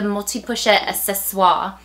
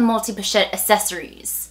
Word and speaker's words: Multi Pochette Accessoires: This is the multi-pochette accessoire, is how I pronounce it. It's not the multi-pochette accessories. I know that we're not French and we just anglicize pronunciations, but it's not.